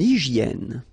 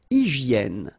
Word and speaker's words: hygiène: Une hygiène. So remember we've got this Y here, vowel, and it's pronounced like E. E, okay? Hygiène. H doesn't exist, H doesn't exist in French, so hygiène.